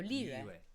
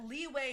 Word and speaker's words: Liyue: So Liyue.